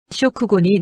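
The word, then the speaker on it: 食後: 쇼쿠고니 노무노 데스까? 쇼쿠고는 식후. 한국어 식후랑 발음 거의 동일.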